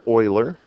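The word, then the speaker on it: Euler: was discovered by lionard Oiler and I think I pronounced his first name right um if not it's close and I know his last name is correct um Oiler was born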